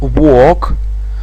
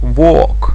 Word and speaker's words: walk: И глагол walk, произношение о, чистое о, долгое о, walk. L не произносится, walk.